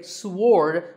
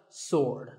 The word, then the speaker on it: sword: about this word sword many people say sward but that is totally wrong it's just sword and here's one last